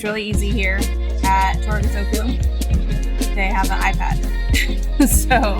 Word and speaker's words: Torikizoku: We always say it wrong. Torikizoku is what we call it, but it's Torikizoku.